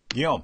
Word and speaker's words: Guillaume: Is it Alfred Guillaume? Guillaume. Is that Guillaume. Guillaume. Like our friend Guillaume. It's the exact same word. Okay. That's the French version of William. That's how French people say William.